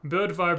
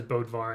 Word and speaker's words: Bödvar: it's more like Bödvar is how it should sound. Bödvar Bersen. I might be exaggerating it a little bit, but yeah. I believe that's like a part of like, you know, Norwegian or Scandinavian pronunciations or something. But yeah, there you go. Bödvar Bersen, if you want to be like really like linguistically technical about it. But obviously everyone says Bödvar and it's fine.